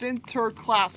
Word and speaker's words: Sinterklaas: It's pronounced Sinterklaas according to some Dutch YouTube videos I watch.